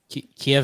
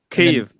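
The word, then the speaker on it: Kyiv: cheers cheers cheers everybody kiev is the russian way of saying it hmm what do you say in the russian um is it ukrainians pronounce it kiev cave okay in america you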